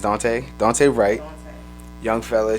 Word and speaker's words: Daunte: It's not Dante. It's Daunte.